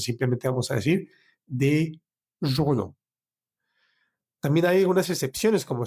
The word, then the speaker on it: journaux: En plural sería des journaux, des journaux.